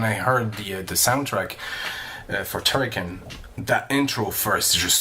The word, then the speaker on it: Turrican: I'm not sure that is it Turrican. It's pronounced.